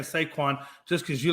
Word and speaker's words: Saquon: I think you're saying saquon just because you like saying the name saquan it's a cool name to say saquan just say it like two times say Quan say Quan it's a cool